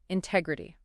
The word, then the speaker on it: integrity: First up, a trait I think is just foundational to everything: integrity. Zia, kick us off. Absolutely. Integrity. Let's start with how to say it. Integrity. The stress is on that second syllable, teg.